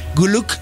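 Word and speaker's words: Güyük: Guluk lo pronuncio con la diéresis, porque recuerden que al igual que en el turco, en el mongol está la diéresis en las vocales.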